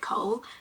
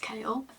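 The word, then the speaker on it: Chaol: At first, I think he pronounced his name Kale. I always read it Cole, but I'm pretty sure it's pronounced Kale.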